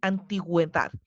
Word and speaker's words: antigüedad: Se colocan horizontalmente sobre la vocal U para indicar que ésta se debe pronunciar.